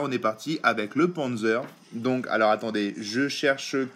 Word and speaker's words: Panzer: Alors, comme il disait PZ, ça se prononce Panzer.